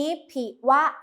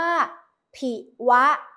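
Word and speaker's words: ผิวะ: มา ค่ะ เหตุ นี้ ผิ วะ เช้า ชั่ว ถูก เข็น อ่าน ว่า ผิ วะ ไม่ ได้ อ่าน ว่า ผิว นะ คะ นัก เรียน เหตุ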